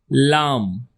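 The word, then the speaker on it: ل: Next is lamb. Lamb. Lamb. Repeat after me. Lamb. Sounds like a lamb with silent B.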